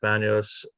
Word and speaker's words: Banios: We are here, the Hamilton School Committee, to interview Banios. Banios, is that the pronounced correct?